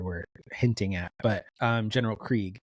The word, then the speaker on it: Krieg: But General Krieg, and I would have not pronounced it Krieg, I would have pronounced it Craig based on how it's spelled.